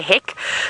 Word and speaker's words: hek: I think hack is the correct way to say it, but because I'm English and I can't speak the language very well, I'd say heck.